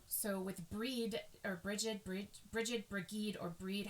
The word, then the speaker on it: Brigid: It is centered around the triple goddess form of Bridget, or Breed, pronounced Breed in the Celtic.